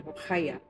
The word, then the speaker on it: Rugaya: My name in Indonesia / Arabic is Rugaya, but they pronounce it Rukhaya.